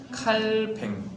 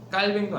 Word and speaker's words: 칼뱅: 루터 그다음에 칼뱅 원래 비는 영어식 발음이고 본토 발음은 칼뱅 칼 칼 칼 뱅도 아니고 칼뱅 이고요 그리고 한 명이 빙글 사람이에요